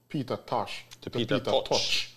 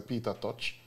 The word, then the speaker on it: Peter Tosh: changed his name from peter tosh yeah i know there's a lot of jamaicans who say peter touch just from a mispronunciation a big part of